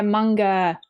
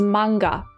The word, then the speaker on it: manga: The actual pronunciation in Japanese, granted I'm not a Japanese person and I don't speak Japanese very well, so take this with a grain of salt, is manga. I'm pretty sure manga.